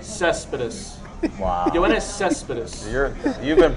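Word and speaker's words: Céspedes: Yoenis Cespedes, outfielder for the How do you Oakland pronounce A's. that name? Cespedes.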